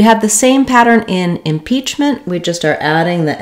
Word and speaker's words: impeachment: a burst of air I may use a stop T here instead impeachment impeachment it'll just sound like a very short N I stop the tongue